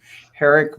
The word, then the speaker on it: Herrig: and now, let's see if I get these pronunciations right, Herrig, Vogt, and Hensley.